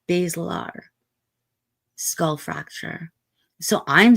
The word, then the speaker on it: basilar: And she corrected him gently and said, basilar, skull fracture.